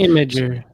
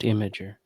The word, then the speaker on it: Imgur: It's Imager. Their site explicitly says it's pronounced Imager.